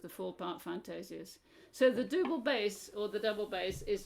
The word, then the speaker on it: double bass: So there are 2 big fantasies for what we call the great double bass, or probably we should say double bass, but it's always spelt with a double O at that point, and 1 very early in nomine.